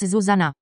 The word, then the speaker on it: Zuzana: with acute accents, so the correct pronunciation of the name in the dvojité vo languages is with stress on the first syllable and with short vowels Zuzana.